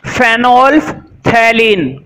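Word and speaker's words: phenolphthalein: तो देखो इसका कैपिटल सी लिखो, ये होती है स्पेलिंग, मैं पढ़ देता हूं, फेनोल्फथैलीन।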